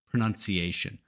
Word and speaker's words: pronunciation: of a tricky word it's pronunciation not pronunciation this is a understandable mistake because we have the word pronounce so it's natural to want to say pronounce pronunciation but it's pronunciation nun pronunciation to help you remember here's a nun helping you learn pronunciation number two popular I